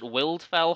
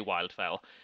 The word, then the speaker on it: Wildfell: tenant of wildfell hall i always pronounced it wildfell hall there's no reason for that in the english language it's clearly wildfell um have you read